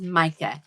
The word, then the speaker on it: Mika: This is Micah, and she is spelled Mika.